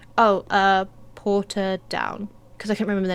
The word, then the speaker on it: Portadown: from here, I said, Portadown. Because I couldn't remember the name I was thinking of, so I said Portadown. He's like, that's not how you say it. You say it like this. Porta.